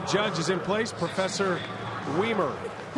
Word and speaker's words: Weimer: By the way, the judge is in place, Professor Weimer. Which rhymes with he looks Wiener.